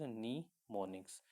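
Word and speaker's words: mnemonics: तो इट is pronounced as निमोनिक्स।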